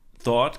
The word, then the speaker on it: thought: Now, thought is the past of think. And what I want you to see with the GH in yellow is that really it's kind of silent. It's a thought. Thought.